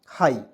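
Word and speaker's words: high: एच से होता है जब भी आई जी एच रहता है तो उसको उच्चारण आई के रूप में होता क्या होता है दोस्तों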